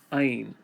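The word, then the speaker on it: עין: The next letter of the Hebrew alphabet is Ayin. Ayin. Ayin is made by first making this arc and then a straight line in the middle. Ayin. Ayin is another silent letter. There's no sound to it.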